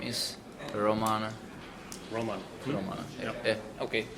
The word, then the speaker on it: Róman: Just to be sure, your name is Róman. Róman. Róman. Yep. Yeah, okay. Just don't want to mispronounce it. No, it's Roman. Usually in English I always say Roman like the Romans, and people are making fun of me.